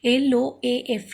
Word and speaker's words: loaf: O-A is together sounded as O. L-O-A-F, loaf, but only one syllable.